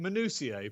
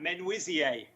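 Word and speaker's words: Menuisier: i can correct you mr s well i pronounce it manusier but clearly that is nowhere near right right men wizzy then we have we men whizzy mercy monsieur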